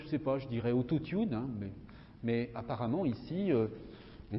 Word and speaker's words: autotune: Autotune, alors il le prononce comme ça, autotune, vous voyez, il y a la prononciation ici. Là, c'est un calque de l'anglais. Enfin, c'est un emprunt même, autotune, qu'on prononce en français, autotune.